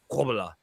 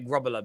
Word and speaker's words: Grobbelaar: It's a bit like I learned years ago that Bruce Grobbelaar, his name isn't pronounced Grobbelaar. It's pronounced Grobbelaar.